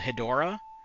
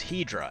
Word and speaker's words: Hedorah: It's like in the Godzilla movies, the smog monster is called Hedorah.